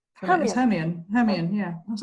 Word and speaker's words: Hermione: The first 3 Harry Potters, Hermione. Hermione.